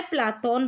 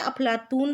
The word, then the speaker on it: प्लेटो: प्लेटो उच्चारण अंग्रेजी के अनुसार है, बिल्कुल सही है। जो हम प्लेटो पढ़ते हैं ना, इसका उच्चारण किसके अनुसार है? अंग्रेजी के अनुसार। इसका यूनानी उच्चारण क्या बन जाता है? प्लाटोन बन जाता है, ये भी बिल्कुल सही है। अरबी में ये क्या बन जाता है? अफलातून बन जाता है।